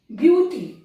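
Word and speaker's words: beauty: सबसे पहले साइलेंट ए, ब्यूटी। अब देखिए ब्यूटी में ए का कहीं प्रोनाउंसिएशन नहीं है, ए साइलेंट है।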